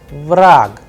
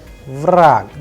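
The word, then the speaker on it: враг: Vrag, here you will see that ge is changing into ke. Vrag, the sound is of ke at the end.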